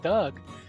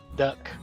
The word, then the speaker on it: Doug: can't spell your name because in Thai, the letter G, which is Gogai, is only a G at the beginning of a syllable. When it's at the end of a syllable, it makes a K sound. There is no G that goes at the end so I become Duck.